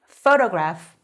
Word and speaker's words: photograph: 얘는 photograph. PH는 F 발음이 나요.